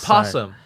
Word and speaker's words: opossum: possum.